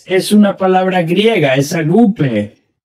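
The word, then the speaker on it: ἀγάπη: una palabra griega, es agape. Creo que se pronuncia agape. He oído muchas diferentes pronunciaciones, pero creo que es agape o agape.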